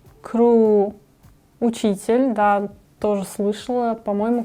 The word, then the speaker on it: ครู: ค ร ู ค ร ู Кру.